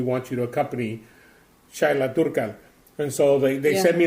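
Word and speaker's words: Dúrcal: Actually, I think it's pronounced Durcal.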